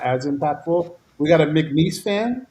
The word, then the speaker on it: McNeese: You got to say it properly. It is McNeese.